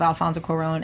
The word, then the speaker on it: Alfonso Cuarón: I did like that moment of Alfonso Cuarón and Homeboy, it was really good, especially when